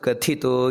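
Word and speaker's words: ಕಥಿತಃ: ಮೊದಲನೆಯದಾಗಿ ಮಹಾಪ್ರಾಣ ಭಾರಭೃತ್ ನೋಡಿ ಎರಡು ಮಹಾಪ್ರಾಣ ಕಥಿತು ಅಲ್ಲೂ ಕೂಡ ಮಹಾಪ್ರಾಣ ಇದೆ ಭಾರತ್ ಕಥಿತು ಅಂತ ಅಲ್ಲ ಭಾರತ್ ಕಥಿತು ಇಲ್ಲಿ ಮಹಾಭಾರತ ಪ್ರಾಣ ಇದೆ ಅದನ್ನ ಗಮನಿಸಬೇಕಾದದ್ದು ಆನಂತರ ಎರಡನೆಯ ಸಾಲಿನಲ್ಲಿ ಆಶ್ರಮ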